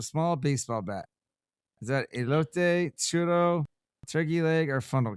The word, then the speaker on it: elote: Is that elote, churro, turkey leg, or funnel cake?